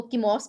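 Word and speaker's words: Chemos: के या तो वो इसको कीमोस भी पढ़ सकते हैं और इसको चिमो भी पढ़ सकते हैं मोस्ट जो मोस्टली इसको प्रोनाउंस किया गया है वो चिमो के नाम से किया गया है नेक्स्ट चि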